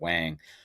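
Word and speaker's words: Whang: I just pronounce it Wang but I'm my dad's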